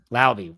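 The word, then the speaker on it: Laube: What is it? It's Lauby.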